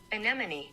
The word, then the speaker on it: anemone: Anemone.